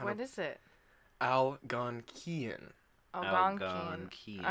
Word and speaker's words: Algonquian: not what is it I'll gone Kian all right so it's a key instead of qui I believe you I'll